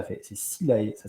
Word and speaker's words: Silae: Tout à fait, c'est Silae, ça s'écrit S-I-L-A-E.